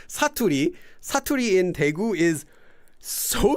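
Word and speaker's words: 사투리: And the problem rhymes with baturi, but starts with an S. It's known as saturi.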